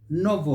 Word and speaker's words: novel: a category of words, which have got that EL at the end, that syllable, but the A is not pronounced. Leave it out. So we say chapel, not chapel. Gospel, not gospel. Novel, not novel. Shovel, not shovel. Travel, not travel. Please note that.